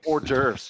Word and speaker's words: hors d'oeuvres: No, it's hors d'oeuvres. Can't No, it pronounce isn't.